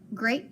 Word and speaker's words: great: learned and that was the silent e long a so gra 8 great book that makes sense so in the word this word great it does the long a sound like insta ache so great book and